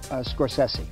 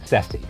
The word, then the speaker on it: Scorsese: Pronounce your last name for me. Scorsese. Sessi.